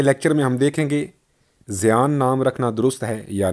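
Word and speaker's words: زَیَّان: نہیں۔ البتہ عربی میں زیان زا پر زبر، یہ پر تشدید اور زبر زین سے مستعمل ہو سکتا ہے،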